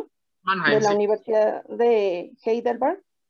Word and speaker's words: Mannheim: en radioterapia en la Facultad de Medicina de Mannheim, está bien pronunciado, de Mannheim, la sí.